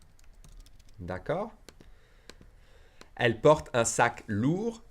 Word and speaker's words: lourd: Elle porte un sac lourd. We don't say the D. It would be for the feminine. You'd add an E and you'd pronounce the D.